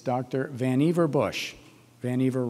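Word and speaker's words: Vannevar: dr van eiver bush van eiver rhymes with achiever or in his case perhaps over achiever an inveterate inventor professor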